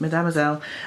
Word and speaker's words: Mesdemoiselles: Then I've got Mademoiselle's Mesdemoiselles, that's how it's pronounced, Mesdemoiselles, Under the Sea, Colouring for Mindfulness.